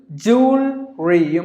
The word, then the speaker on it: jewelry: you read jewelry this again this is optional jewel Ryu might even pronounce the word with two syllables or three